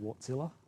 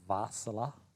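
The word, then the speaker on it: Wärtsilä: loud so it's V the W makes a v sound which gives it the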